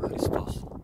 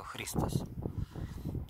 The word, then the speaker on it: Христос: Там меня встречал, таможник был с именем Христос. А если ударение ставить правильно, то Христос. Я подумал, а вот в этот раз будет ли меня Христос или Христос встречать?